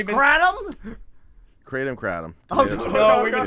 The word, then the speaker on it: kratom: Oh, is it kratom? Have we been saying it wrong? It's kratom?